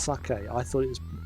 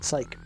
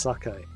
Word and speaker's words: sake: all those years ago, I didn't actually know that that was pronounced sake. I read it as English, as sake. It wasn't until I played Shenmue on Dreamcast that I heard it being pronounced sake.